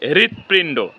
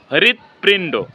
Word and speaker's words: হৃদপিণ্ড: হ এর সাথে যদি হ এর সাথে যদি ঋকার সংযুক্ত থাকে তাহলে সেই হ এর উচ্চারণ হৃ এর মত উচ্চারণ হবে এইচ আর আই হৃ এর মত উচ্চারণ হবে তাহলে এখানে হবে হৃদপিণ্ড হৃদপিণ্ড হৃদপিণ্ড এভাবে আমরা যেকোনো